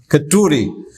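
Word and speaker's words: Kheturi: It's also mentioned that he was the sole person who actually, in Keteru, he was the first person, is that how to pronounce it? Keteru? Keturi or Keteru? Keturi.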